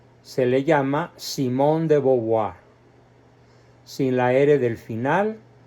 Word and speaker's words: Simone de Beauvoir: pronunciado se le llama Simón de boboa sin La era del final y además considerando que el vocablo e a u en francés se pronuncia o y el vocablo oi